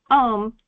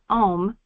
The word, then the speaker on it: Om: often spelled a u m. It is usually spoken almost under the breath and pronounced in the consciousness as well as in the mouth as the small silence at the end is is as important as the sound itself.